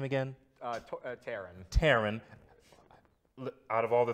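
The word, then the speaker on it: Taran: Taron.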